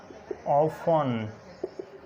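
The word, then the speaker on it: often: उसके बाद टी से पहले अगर ई एफ या एस आ जाए तो टी साइलेंट होता है। एग्जांपल्स बैलेट, इसी तरह ऑफन, फसन, गौरमे, सफन, लिसन, इसी तरह विसल और नेस्ले, हसल, क्रिसमस।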